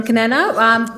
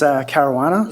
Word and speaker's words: Caruana: Kanana. It's a question regarding Cumberland Road and O'Hay Street, I believe. Apologies if I pronounced your name incorrectly. It's Caruana. Sorry. Caruana, that's right.